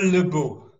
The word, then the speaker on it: LeBeau: So LeBeau, am I pronouncing that correctly? Pretty good. Well, that's the good American pronunciation. What's the real pronunciation? LeBeau. LeBeau.